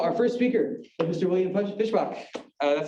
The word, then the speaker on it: Fischbach: all right so our first speaker mr william fishbach that's how you pronounce the right fishbox correct fantastic so he